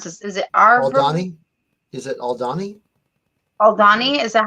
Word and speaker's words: Aldhani: even know if I can know how to pronounce this is it is it aldani oh Donnie is that how you say it oh Donnie okay thank you I'm like I feel that